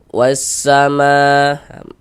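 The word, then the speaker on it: وَالسَّمَاءَ: Di sini kan huruf lamnya ini nggak ada tanda bacanya nih. Nah, jadi karena nggak ada tanda bacanya, maka jangan bingung. Jadi cara membacanya itu dari wa langsung masuk ke huruf syamsiahnya ini, ke huruf sinnya ini begitu. Wasa langsung masuk gitu. Wasa masuk gitu.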